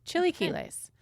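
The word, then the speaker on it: chilaquiles: will give it to you if you can spell it oh yeah c-h-i-l-a-q-u-i-l-e-s chili Ki lace got it it is it's a breakfast dish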